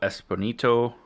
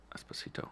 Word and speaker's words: Esposito: mafan uh Gian Carlo espito Esposito Esposito I'm sorry I said it wrong um also I don't